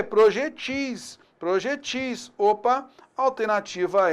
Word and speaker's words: projetis: Plural de projetil não é projéteis. O plural de projetil é projetis.